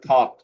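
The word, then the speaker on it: thought: এইযে থট এখানে জিএইচ নাই।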